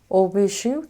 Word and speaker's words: Hauts Bijoux: Hauts Bijoux. This is the pronunciation, that's what they said.